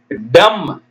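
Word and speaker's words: dumb: இம் ஓம் டபள்யூ ஓ எம் பி எழுதணும் ஆனா உச்சரிக்க கூடாது டம் டி எம் பி டம் வாய் பேச முடியாத காது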